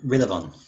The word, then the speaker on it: Rillavon: Oh, it is Rillavon. Rillavon. Interesting. Right, would you mind saying that again? Yes, it is spelled how it sounds. It is Rillavon.